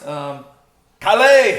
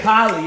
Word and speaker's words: Kali: Kale! Kali. Yes, that was so Kale! You gotta say it like that.